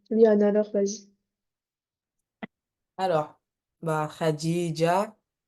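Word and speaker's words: خديجة: s'appelle Khadija par exemple est-ce que vous dites Khad mais en vrai ça s'écrit comme ça c'est khadij le vrai prénom mais vous allez pas vous dites pas khadij vous dites Khadija voilà c'est pour ça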